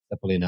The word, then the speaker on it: Cepelinai: Cepelinai.